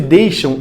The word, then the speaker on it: deixam: As palavras texto e deixam, a letra X representa o mesmo som. Texto parece que é um som de S. Deixam parece que é um som de CH.